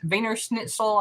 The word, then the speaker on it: Wiener Schnitzel: i know it's spelled wiener schnitzel but it's pronounced venus veiner schnitzel i think like that treasure hunter had it